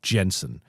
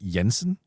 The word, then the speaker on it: Jensen: a D beforehand, like Jensen. You're the only one who actually does it right with the Y sound, Jensen.